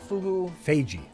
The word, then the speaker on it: Feige: In an interview recently, how do you pronounce Kevin Feige? Feige.